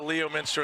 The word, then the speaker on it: Leominster: I showed them the name Leominster, and they did not understand the pronunciation, right? Because it's clearly Leominster. There's certainly a Leominster in the UK.